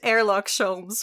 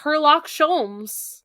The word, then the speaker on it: Sherlock Holmes: You know this- it's pronounced Airlock Sholmes, right? No, it's not. It's Sherlock Holmes.